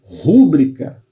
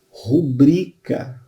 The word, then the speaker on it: rubrica: gratuito, em vez de rúbrica como proparoxítona. O certo é o quê? Rubrica. Não é rúbrica, é rubrica.